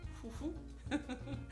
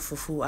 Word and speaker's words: fufu: It's pronounced nasally. So there is fufu and there is fufu. Today we're making fufu.